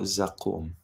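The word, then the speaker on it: Zaqqum: to do with Hellfire rhymes with samum and what's interesting is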